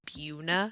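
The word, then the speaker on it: Buena: Or did you guys know the town in Colorado of that formerly Buen a Vista is actually pronounced Buuna.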